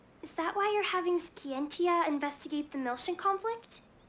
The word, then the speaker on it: Scientia: Is that why you're having Skiientia investigate the Milian conflict? Okay. It's pronounced. All right. Not Scientia.